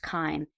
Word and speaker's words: CHIME: It's actually spelt CHIME. It's pronounced Chyme.